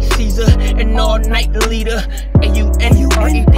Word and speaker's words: Aunred: A-U-N-R-E-D is Aunred. That's how you say my name, coming to the lead.